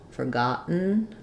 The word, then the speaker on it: forgotten: like um for got we have the AOW forgotten they might put the schah in there or